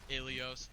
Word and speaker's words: Ilios: It's pronounced Ilios.